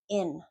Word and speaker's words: in: So notice what your mouth is doing when you pronounce in. I. Nothing. Nothing's happening. You're not contracting your cheeks. You're not smiling. Your tongue is not tight. Nothing's happening. I. In. That's your short I sound.